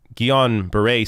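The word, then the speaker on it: Guillain-Barré: cause strokes seizures and i have the actual pronunciation here because this is a weird word or a weird term uh gion beret syndrome so where was i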